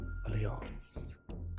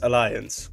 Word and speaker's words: Alliance: just don't like it's it's also the Dutch pronunciation though alance I like it more I just like it more it it's it's oh you're an invest or it's your guys's fault for picking a name that you can pronounce in two ways not mine it's not my fault is it really okay so officially it's Alliance okay yeah Fair your